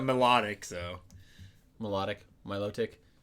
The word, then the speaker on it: Milotic: said melodic so melodic Milotic honestly some people probably pronounce Milotic malotic yeah I've heard people pronounce it melodic how do you pronounce